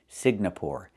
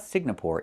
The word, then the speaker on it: Singapore: I cannot pronounce the country Signapore. It's not Singapore. It's Singapore. The NG makes a sound M in your nose. Sing like when you sing a song together. Singapore, not Signapore, but Singapore.